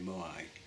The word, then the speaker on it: moai: I mean, I know I quite often call these moai moa.